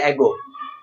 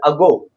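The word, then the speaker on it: ago: बहुत सी से पढ़ते हैं एगो, ये एगो नहीं है, दिस इज अगो, यानी अगो।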